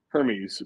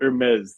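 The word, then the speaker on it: Hermès: I thought it was called Hermes, but apparently it's called Hermes. The H is silent, which is like some rich people bullshit.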